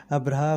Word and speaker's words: ابرہہ: مورخین ابراہم لکھتے ہیں۔ ابرہہ غالباً اسی کا حبشی تلفظ ہے کیونکہ عربی میں تو اس کا تلفظ ابراہیم ہے۔ یہ شخص رفتہ رفتہ